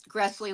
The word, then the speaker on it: Gressley: Or for your chocolate lovers, Gressley like Nestle.